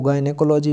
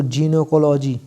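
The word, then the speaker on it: gynecology: गायनेकोलॉजी, मैंने आपको बताया आपको गायनेकोलॉजी भी पढ़ सकते हैं अपनी टंग में। वैसे आप इसको जीनेकोलॉजी, जीनेकोलॉजी पढ़ें, जिनेकोलॉजी, जिनेकोलॉजी।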